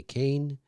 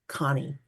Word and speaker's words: Kane: So my real name is Connie. That's how you say it.